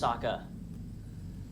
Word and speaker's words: Sokka: My name's Sokka. Rhymes with Aka and Waka Waka.